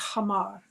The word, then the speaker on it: homer: shall be hamar yeah they call it Homer you know some people pronounce it Homer it's actually hamar shall be 50 shackles